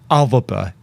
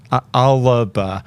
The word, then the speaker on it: Alba: Um but there's a hidden a in it. So people might say Alba, but it is Alvaba. Alaba. So try that.